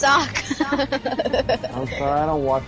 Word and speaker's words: Sokka: It's not Sokka. It's Sokka.